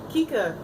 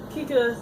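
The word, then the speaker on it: Kikka: then out of nowhere Kika comes up. I believe that's how you pronounce her name, is K-I-K-K-A.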